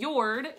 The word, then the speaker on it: Jord: here today with a watch review the company yourd it's spelled J o Rd but it is brown